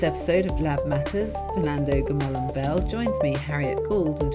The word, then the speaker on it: Gomollón Bel: It's Fernando Gomollón Bel.